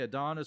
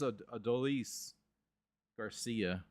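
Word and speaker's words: Adolis García: The TV broadcasters say I've heard them say Adonis, but I think it's Adolis Garcia.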